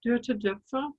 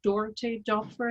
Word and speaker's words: Doerte Doepfer: My name is Doerte Doepfer, Doerte Doepfer as it's pronounced here very often.